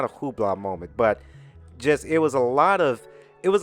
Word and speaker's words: Hublot: told you guys about the whole um not hubla I don't want to say it like that Simone it's not a Hublot moment but just it was a lot of